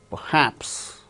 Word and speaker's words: perhaps: The second syllable gains stress: relation, relation, perhaps, perhaps. R is not uttered because it is followed by h in the word perhaps. Receive, examine.